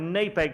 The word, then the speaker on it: NAPEG: If you phone their main switchboard, they pronounce it NAPEG. If you phone several of their employees, they call it NAPEG. So I'm going to go with NAPEG for the rest of the evening, and then only half the audience will hate me.